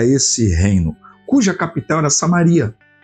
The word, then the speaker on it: Samaria: E Amós foi um profeta que profetizou para esse reino, cuja capital era Samaria, ou Samária, na pronúncia de alguns, e que o texto do capítulo 13 e também do capítulo 4 vai citar muito essa cidade.